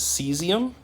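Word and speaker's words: caesium: This is seesium.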